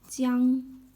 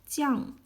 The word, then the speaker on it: 将: It can be pronounced as jiāng, jiàng, or qiāng, according to different context.